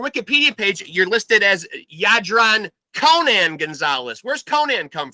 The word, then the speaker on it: Jadran: up your name man yadron yadron gonzales yes sir yeah that's actually pronounced yeah it's good uh yeah the j is a y sound yeah that's true so